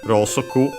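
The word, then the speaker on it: ろうそく: She says uh to first and foremost we have Rosoku as I mentioned uh candle in Japanese uh should be accent on the saw we have seen it as an exception despite being a a Chinese compound. Yeah, it's accent on the so be careful.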